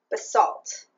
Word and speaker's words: basalt: The colorway is Basalt. A viewer kindly on Instagram told me that that is how you say it in America. And apparently in Britain it's basalt.